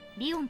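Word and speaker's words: 理御: 理科の理に魚するの魚でリオンと読みます。 It's written as blah, but pronounced Leon.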